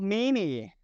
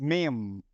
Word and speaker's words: meme: Okay, so this is not mini, this is meme.